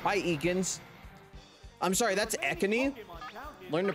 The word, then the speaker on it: Ekans: Oh, it's Eakins. Hi, Eakins. I'm sorry, that's Ekani. Learn to pronounce its name correctly, you fuck.